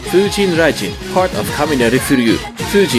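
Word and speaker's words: 風神雷神: featuring nana takahashi and 709 sec is actually pronounced fujin rajin part of kamineri furyuu fuji is the god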